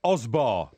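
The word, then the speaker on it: Osburh: Her name was Osbar. I'll give you that. Thank you. I think I don't know if it's Osbur. It's O-S-B-U-R-H. Yes, that was Osbar.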